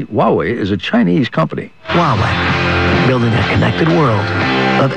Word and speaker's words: Huawei: It's actually pronounced Huawei. Huawei.